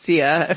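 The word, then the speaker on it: sia: CIA and Scottish GIC they'll say Shia but it's CIA for me there's no h in it so just phonetically that's how what I want to go with and um and it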